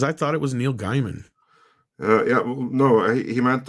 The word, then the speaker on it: Gaiman: pronounced neil gaiman yeah probably it is pronounced gay man i'm not entirely sure i think i believe he has said that that saying gay man is fine it's just like it's weird for me to pronounce it that way so like in my head i always read guy man but um there was no one there in norway to tell me the correct pronunciation it is and then to wrap